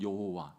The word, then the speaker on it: 여호와: wh 그래서이 성경 학자들이 이게 어떻게 발음해야 되나이 모음이 없으니까 자음만 있으니까 이거를 어떻게 발음해야 될지 몰라 가지고 연구하다가 찾아 난게 우리가 우리가 흔히 쓰고 있는 여호와 야회 어 이렇게 이제 쓰고 있습니다 어이 뭐 서기관들